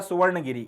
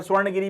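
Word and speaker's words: सुवर्णगिरि: तीसरा तोशाली और चौथा सुवर्ण गिरी इसको कई बार स्वर्ण गिरी भी बोला जाता है सुवर्ण गिरी या फिर स्वर्ण गिरी जैसा भी आप इसे प्रोनाउंस करना चाहे ये आपके चार प्रोविंशियल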